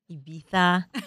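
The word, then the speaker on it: Ibiza: In the past, say two weeks, you've been to California, US, Saudi, Ibisa, Ibitha, right? Good pronunciation.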